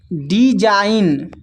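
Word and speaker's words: design: तो जब जी के बाद एन आए तो जी साइलेंट होता है। तो यहां पर देखिए जी के बाद एन है तो जी यहां पर साइलेंट है। इसको पढ़ पढ़ते हैं। रिजाइन डिजाइन कमपेन। तो इन सभी में देखिए जी के बाद एन आया हुआ है तो जी सभी में साइलेंट है।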